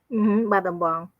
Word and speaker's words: Battambang: find my mom's hometown, I'm sorry, I can't pronounce it, Battambang? Battambang, yeah.